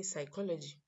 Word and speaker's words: psychology: you write for example when i say psychology psychology is spelled p s y c h o l o g y which it contrary to the way i pronounce it so it's very important